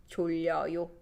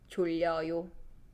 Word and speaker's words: 졸려요: And this EO, 리요, shortens to 려. This is tongue twister. A lot of people find this really hard to pronounce.